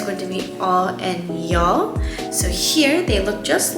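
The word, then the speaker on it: ㅑ: vowel ah and then for this one it's going to be ya so it's kind of like y a yeah the next pair is going to be all and y'all so here they look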